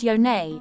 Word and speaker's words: Yoni: Partners the Yoni vagina Yoni pronounced yonay is the Sanskrit word